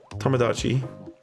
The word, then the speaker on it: Tomodachi: Tomodachi.